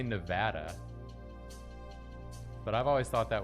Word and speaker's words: Nevada: Some people say Nevada, but I've always thought that was stupid.